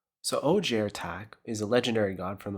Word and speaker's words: Ojer Taq: let's talk legendary today we'll be talking about OJ attack so OJ attack is a legendary god from the plane of